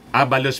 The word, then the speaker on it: Abalos: Sabi po ni Benhur Abalos, Abalos pala ang pag-pronounce yan, Benhur Abalos.